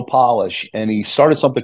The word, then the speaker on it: Polish: heard of Joe polish it's spelled like polish but Joe polish and he started something